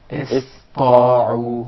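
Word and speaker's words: اسطاعوا: So it will be pronounced as sin, not sad. Okay. إِسْطَاعُوا. إِسْطَاعُوا.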